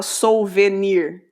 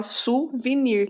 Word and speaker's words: souvenir: a pronúncia dessa palavra vou te dar um exemplo de uma palavra do francês suvenir permita escrito suvinir né ninguém ninguém fala Souvenir todo mundo fala suvenir isso está entre colchetes